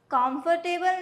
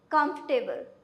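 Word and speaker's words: comfortable: Pronounce करेंगे कंफर्ट stable कंफर्टेबल कंफर्टेबल नहीं टेबल पे स्ट्रेस नहीं देना कम टेबल कंफर्टेबल ओके अब एक ऐसा वर्ड जिसमें हमारे पेरेंट्स भी बहुत ज्यादा हमने मिस प्रोनाउंस करते हैं।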